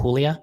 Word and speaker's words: Julia: participate or maybe there my sister's name is Julia so we pronounce it Julia in Spanish so maybe there's a